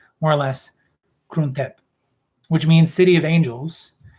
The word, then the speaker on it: Krung Thep: Never trust my pronunciations, but it's more or less Krung Thep, which means City of Angels.